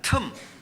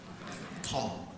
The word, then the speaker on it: 틈: 틈. 경상도 발음으로는 잘 안 되시더라고요. 텀. 네. 그러나 알아듣습니다.